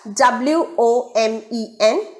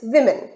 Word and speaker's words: women: now look at word number two it is women the spelling reads that w o m e n it is the plural form of woman so we wrongly pronounce it as omen or woman but the